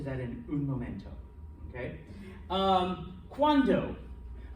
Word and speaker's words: cuando: Cuando. Cuando means when. Okay, so cuando. Cuando is when. Cuanto. And here's where pronunciation becomes important because one's a D, one's a T.